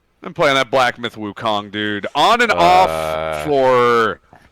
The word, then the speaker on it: Wukong: I would say Black to Myth Wukong. I would also maybe say Black to Myth Wuchong to keep it with the Cantonese pronunciation.